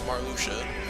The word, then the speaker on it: Marluxia: GBA com came out I'm sure no one knew how to pronounce his name cuz I kept calling him Mario I'm pretty sure everyone called it Maria but no it's marusia and you honestly can